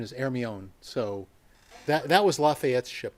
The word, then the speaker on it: Hermione: It is spelled Hermione, but too many people associate that with Harry Potter, and the correct pronunciation is Hermione.